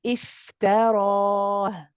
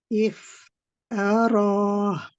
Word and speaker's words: افتراه: We don't say ta. Okay, it needs to be ta. The ra is heavy. So we say ta, ra, ta, ra, ta, ra.